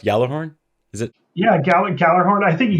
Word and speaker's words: Gjallarhorn: game is this, you know, I love the pronunciation. Gjallarhorn, is that correct? Gjallarhorn? Is it? Yeah, Gjallarhorn. I think Gjallarhorn yeah.